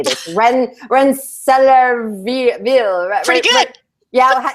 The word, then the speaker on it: Rensselaerville: I have no idea how to say this, Rensselaerville. Pretty good. Yeah, how do you say it, Wendy? Rensselaerville Institute. Rensselaerville Institute.